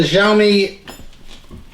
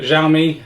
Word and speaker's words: Xiaomi: got a new electric vehicle that's this the xiaomi mi electric scooter we'll unbox it talks about